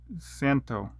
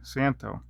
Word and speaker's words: Szanto: what model this is the z is silent santo okay i guess i was saying it wrong santo hey that's great that